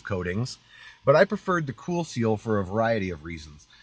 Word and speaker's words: KoolSeal: It's spelt cool with a K, KoolSeal, Cool Seal.